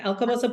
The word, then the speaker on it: Alcobaça: So she's actually located in, and I hope I'm saying this right, Alcobaça. Yes, Alcobaça, Portugal, Silver Coast, right in the middle.